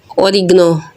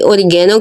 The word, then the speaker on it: oregano: और इस प्लांट का नाम है ओरिगनो। कोई ओरिगेनो कहता है, कोई ओरिगनो कहता है और मुख्तलिफ़ ममालिक में इसको मुख्तलिफ़ तलफ़्फ़ुज़ या प्रोनाउंस हैं।